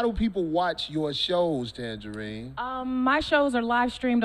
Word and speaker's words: Tanjareen: You see how she spell it? TanjareeN. It's correctly pronounced Tanjareen.